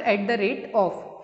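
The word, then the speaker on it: @: है एट the rate, जिसको हम प्रोनाउंस करते हैं एट या फिर एट द रेट ऑफ।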